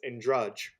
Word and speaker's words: Andrade: How do you pronounce? That's Andrade from Brazil.